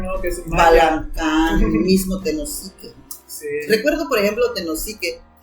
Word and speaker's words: Tenosique: de Mi Amado Redención, le decían Winisique, porque él no podía pronunciar Tenosique.